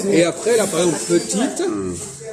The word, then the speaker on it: petite: Et après, là, par exemple, petite, E après la consonne T, on dit T. Le T existe.